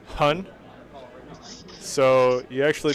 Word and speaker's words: Chhun: So so to answer Lefty's question, I think it's pronounced Chun. So you actually pronounce both H's. You go Chun. And that's the correct pronunciation.